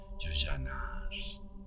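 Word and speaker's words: yojanas: Así se pronuncia, yoyanas.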